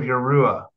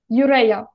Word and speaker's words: YhU-Rha: What are the flames of Yarua? Urea.